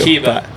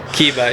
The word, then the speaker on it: Kiba: Kiba. Cool. Like from Naruto. Nice. The anime. So very cool. Kiba, yep.